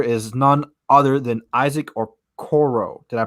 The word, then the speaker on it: Okoro: This player is none other than Isaac Okoro. Did I pronounce that right?